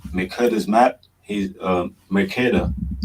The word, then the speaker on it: Mercator: He's Mercator, right?